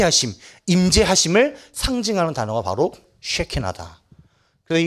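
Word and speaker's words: שכינה: 이 발음 조심해야 돼요. 강선생님 이 중1 때 아직도 기억나. 중1 때 우리 과학 선생님이 경상도 키 작은 여자 선생님인데 항상 이 쬐끄만한 자를 들고면서 쉐키만 막 이러고 있어. 그 발음 잘해야 돼. 이 쉐키나.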